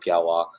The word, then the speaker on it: Galois: a mouthful to say uh ended up with galwa I don't know if that ended up being